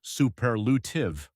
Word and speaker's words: superlative: That's pronounced superlutive, also with stress on the second syllable.